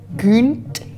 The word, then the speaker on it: Gynt: Et Gunt, ça s'écrit avec un Y, mais en norvégien, le Y est une sorte de U, un peu sur le bout des lèvres. Alors, les puristes diraient père Gunt.